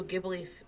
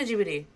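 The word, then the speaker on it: Ghibli: Gib Studio Jibi because that's how it's pronounced in Japanese.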